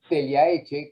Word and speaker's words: Tellaetxe: nuestro chef del día, José Teliaeche, como me dijo que se pronuncia el apellido, y quien nos va